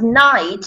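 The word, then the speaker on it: knight: It is written with K and N, but you know that K is silent, so we don't say like it night. We don't. It doesn't sound like it is. It's pronounced. It's a silent letter. Yes, the first letter is silent, and we say night.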